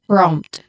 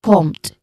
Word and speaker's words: prompt: So you ensure that both the letter P and the letter R are clearly pronounced when connected, when blended together. So it's prompt, okay? Not prompt. Usually prompt. The letter R are removed completely. Also, response.